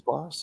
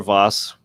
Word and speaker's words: Vess: This is Charles Voss, is it? Charles Vess, yes, Mhm. and or Voss, depending on how you pronounce it.